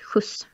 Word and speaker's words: skjuts: And that word is, for example, skjuts. Skjuts, what's skjuts? It's when you give someone a lift or a ride. Okay. That's skjuts.